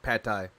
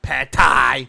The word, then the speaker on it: pad thai: a Thai restaurant then I'll get Patti not Pat Tha Sushi Teriyaki Takaki ra